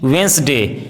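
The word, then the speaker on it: Wednesday: यदि किसी वर्ड में डी जी या एन डी साथ में हो तो डी का उच्चारण साइलेंट होता है, जैसे as, bridge, laser, handsome, grandson, handful, handkerchief, sandwich, वेंसडे।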